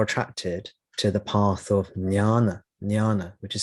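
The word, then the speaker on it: jnana: to the path of nyana nyana which is spelled j n-a-n-a sometimes people pronounce it Gyan which is an alternative pronunciation Gian or Nyan nyana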